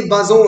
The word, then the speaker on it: Bazin: এই যে অ্যাপ্রোচটা, এটা প্রথমবার আন্দ্রে বাজো, নাম মনে থাকবে, ANDREBAZIN, বাজিন উচ্চারণে বাজো, আন্দ্রে বাজো এবং আলেকজান্ডার অস্ট্রুক এবং আন্দ্রে বাজো, তারা এই অটিউর থিওরি, AUTEUR দেখে নেবে, আমার স্টাডি মেটেরিয়ালে আছে।